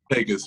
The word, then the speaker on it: Pecos: Pecos, yeah.